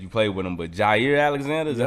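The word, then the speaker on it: Jaire Alexander: But Jair Alexander, is that how you say his name?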